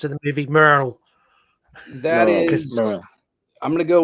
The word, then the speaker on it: Merrill: Merryill, but it's pronounced in the movie Merrill.